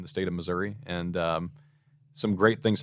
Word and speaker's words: Missouri: it comes to the pronunciation of Missouri is it Missouri or Missouri uh I say Missouri it's a great place